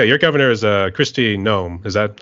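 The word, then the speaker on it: Noem: knew actually yeah your Governor is uh Christy gnome is that how you pronounce your name yeah that's how you pronounce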